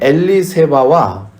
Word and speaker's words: 엘리세바: 이 아론의 아내 엘리세바와 세례 요한의 어머니 엘리사벳이 같은 이름입니다. 그러니까 엘리세바는 히브리식, 구약식 이름이고 그 발음이 신약으로 오면 헬라식, 히랍식 발음이 엘리사벳이 되는 거예요.